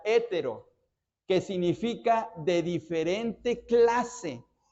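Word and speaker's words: ἕτερος: es una palabra que en griego se pronuncia hétero que significa de diferente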